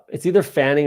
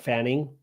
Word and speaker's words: Fannin: It's either Fanning or Wandale. Let's go Harold Fanning. Fannin is probably actually how you say it. Fannin, not Fanning, but that's okay.